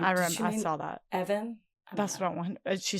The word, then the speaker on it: Even: You think it's Evan? It says pronounce E-V-E-N.